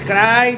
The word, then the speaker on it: Karahi: a proper Curry man it's cry chicken cry you don't cry cry me a river that's how you said you don't need to over pronounce it you don't have to over pronounce it you can just say cry you know like Cry